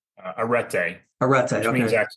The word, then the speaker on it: arete: Kind of take us through the top with arete. Did I pronounce that correctly? Uh arete.